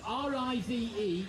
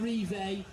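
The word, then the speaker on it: Rive: to pronounce your surname r-i-v-e is rick riv so not live not relay so riv came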